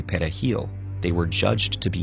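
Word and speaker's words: perejil: Spanish word for parsley Dominicans pronounce it pahil with a trilled Spanish R the primary Haitian language however is cray which doesn't use a trilled r so if people struggled to say pahal they were judged to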